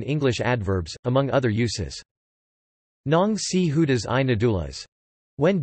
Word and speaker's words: ng: Ayan ang mga damit ko, those are my clothes, are abbreviations that are pronounced nong na and manga ma.